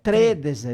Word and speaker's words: tredese: L'accento lì, lette il primo E del 3, non del D. È Tredese, le mie tredese, le tredese.